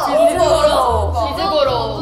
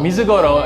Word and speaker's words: Mizugoro: Okay, so in Japanese it's Mizugoro. Mizugoro, and in Korean it's Mulchangi.